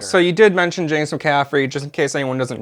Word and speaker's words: McCaffrey: yeah, with being James McCafferty. Is that how you say his name? McCaffrey.